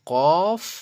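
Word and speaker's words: ق: কাফ ঠিক আছে তো কফ আরেকটা হল কাফ দেখছেন কত বড় পার্থক্য আর আমরা যারা জানিনা যারা না জেনেই পড়ে চলে যাচ্ছেন তাহলে আমরা কত ভুল পড়তেছি বলেন এটা হলো কফ আরটা হল কাফ একদম হালকা কাফ যেমন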